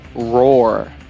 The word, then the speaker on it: roar: Lions roar. Lions roar. Percebe a minha segunda palavra aqui? Roar. Isso pode ser um pouquinho difícil para os brasileiros pronunciar. Tem aquele R, né?